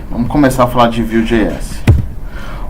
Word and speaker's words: Vue.js: No site ele fala para se pronunciar como Vue de model, Vue controller. Tem gente que fala Vue, que a gente é brasileiro, BR, sangue bom. Mas tanto faz um quanto o outro.